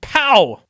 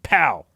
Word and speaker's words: Pau: His city was named Pau. Pau, right in the kisser. P-A-U, Pau.